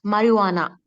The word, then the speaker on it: marijuana: Yeah, it's not marijuana, it's marijuana. Marijuana. Okay. Marijuana. J silent. Yeah, J is silent.